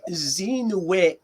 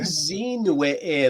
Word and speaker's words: zinwe: Yeah, Zinwe-e. Okay. Zinwe-e. Like there's a high pitch sound Mhm. in that plant.